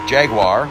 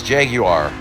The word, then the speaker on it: Jaguar: hard one is Jag Jaguar is what people will say and a more proper way to say it is Jaguar I believe is more of the British pronunciation ason Martin not Austin